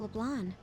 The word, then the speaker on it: Leblanc: How about LeBlanc? You gotta say it right, Makoto. It's LeBlanc.